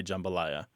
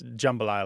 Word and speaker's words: jambalaya: that first, I think your friend is right. Most people do say jambalaya. Jambalaya is incredibly rare. And even when people do say jambalaya, it's a super short A. It's jambalaya like that. They don't do that. It sounded kind of like a schwa, didn't it? But it wasn't.